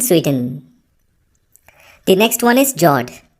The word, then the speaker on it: fjord: The next one is Jord. The F word is silent when you pronounce it.